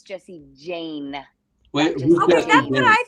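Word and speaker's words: Jesse Jane: It's Jessie Jane. Wait, okay, that's what I thought, but I was like, yeah, I don't know why I was saying like, James.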